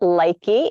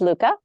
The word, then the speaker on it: Lykke: it's uh a lot of people call it likey it's uh pronounced Luca and it means happy isn't that cute but